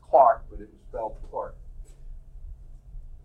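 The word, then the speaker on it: Clerk: the Scottish pronounce things wrong but it was pronounced Clark but it was felt apart he had studied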